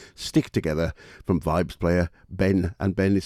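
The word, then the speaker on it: Behn: And speaking of rhythm, here's a track from the latest release from Vibes man Ben, and the album is called Stick Together, and this is Four of a Kind.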